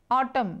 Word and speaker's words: autumn: Autumn, autumn, autumn, यहाँ पे n silent है, सिर्फ autumn पढ़ेंगे, autumn, autumn.